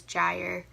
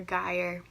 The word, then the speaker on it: gyre: there's this image of this gyre or a gyre, however you want to pronounce it, which is basically like